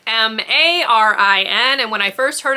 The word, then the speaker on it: Marin: You are following a girl who has my actual name, except it's spelled M-A-R-I-N.